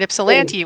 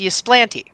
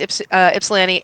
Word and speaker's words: Ypsilanti: So I live in Detroit, and the festival is over here in Ypsilanti, which is not pronounced Ysplanti.